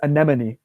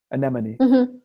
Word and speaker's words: anemone: difficult it's pretty straightforward the e is an a sound and then the other part is just money anemone yeah yeah okay and